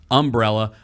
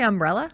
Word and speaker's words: umbrella: Is that how you say umbrella? Umbrella? Does he say it weird? Umbrella? Yeah, you put the emphasis on the wrong syllable.